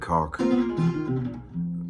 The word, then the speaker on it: Caul: me playing with Greg Caul. He said say it like C A U L K.